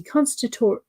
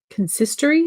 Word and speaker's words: consistory: You're on the constitutory? How do we say this? Constitutory? No, that's not how you say it. Consistory? Is that how you... What's the American? Okay, consistory.